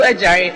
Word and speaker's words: Adjare: My name is Ejare, and my Ejare is spelled Adjare.